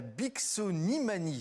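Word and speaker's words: Bixonimanie: Alors ce soir Mylène, vous nous parlez d'une mystérieuse maladie qui s'appelle la Bicksonimanie. J'ai bien prononcé?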